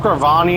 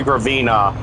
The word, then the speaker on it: Gravina: damn this thing's fast I said graani in the last part I said gravine I meant to say gravina yeah my bad I